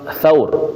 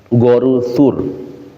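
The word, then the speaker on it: ثور: Tapi kita seringut gua ya. Goru ya goruur ya. Padahal bacanya tsur ya garu tsur ya.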